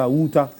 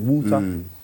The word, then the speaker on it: Wutah: Yes, it's Wutah. That's the real pronunciation. Wutah.